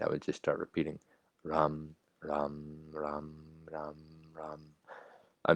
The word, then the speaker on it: Ram: It looks like Ram, R-A-M, but it's pronounced Ram. Not rum, Ram.